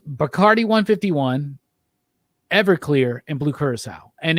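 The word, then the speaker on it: Curaçao: want to let you know that it is pronounced blue curacao i'm sure other people let you know that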